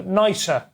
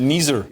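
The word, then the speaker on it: NIESR: Which is actually, funny enough, is short for nicer. Nicer. You pronounce that. Oh, yeah. Appropriate. I pronounce it Neezer. Yeah, no, it's nicer.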